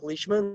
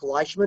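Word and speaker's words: Leishman: Well, Leech Leechman was a Scott and uh there's a famous professional golfer, Mark Leechman, that plays on the professional golf tour. And if you called him Mark Lman, he wouldn't like that.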